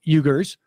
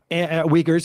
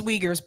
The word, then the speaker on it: Uyghurs: government rights violations targeting ugers um weakers i should say and uh it's uyghurs by the way yeah it's it's it's spelled with a you but it's uyghurs um i don't think